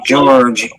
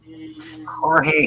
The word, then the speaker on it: Jorge: And it is uh George Himenez. Himenez. I got the last name wrong. Jorge Gimenez.